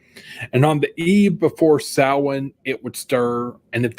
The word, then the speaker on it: Samhain: Okay, is it pronounced Sam Hain like Loomis does? In English, they say Sam Hain, but the actual word in Irish is pronounced Samhain.